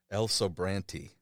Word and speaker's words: El Sobrante: pronounce this the way you told me to pronounce it, El Sobrante.